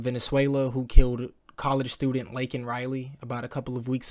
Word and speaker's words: Laken: When he said her name, he pronounced it wrong. He couldn't even say Laken Riley. He is so out of touch with this situation, and he cares so little about Laken Riley's loss of life and her family, that he went on to say her name by calling her Lincoln Riley.